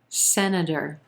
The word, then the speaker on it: senator: congress number nine senator senator three syllables here emphasis on the first syllable and the as in red vowel sound very quick schwa second syllable sena senator then our t becomes a flap t sounding like a quick d again that final syllable is going to be very soft senator senator the majority